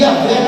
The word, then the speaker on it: Yahvé: E Yahvé, quando é pronunciado pela cultura judaica, ele é como uma respiração.